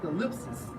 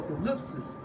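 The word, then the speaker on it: θλῖψις: It's like Strong's G 2347 pronounced as thalipsis or thalipsis, and it states metaphor for oppression, affliction, tribulation, straits.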